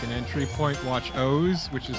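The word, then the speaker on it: OOO: Kamen Rider as like an entry point, watch O's, which is spelled O-O-O, or Double, which is just W.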